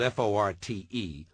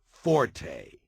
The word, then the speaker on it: forte: silence number one the English word Fort spelled f o r t and meaning specialty or strong point is not pronounced Forte got that it's pronounced Fort the Italian word